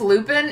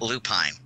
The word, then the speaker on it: Lupin: No, because it's Lupin. It's a flower. It's not lupine. It's spelled like the flower.